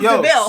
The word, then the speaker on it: De Vil: Spelled like devil, but pronounced DeVille.